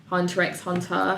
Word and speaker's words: Hunter x Hunter: and I'm gonna say Hunter x Hunter oh cool yes I do pronounce the X sorry don't hate me